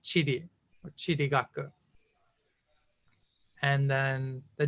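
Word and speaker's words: 地理: And this character is also in the Japanese word for geography, which is pronounced chiri or chirigaku.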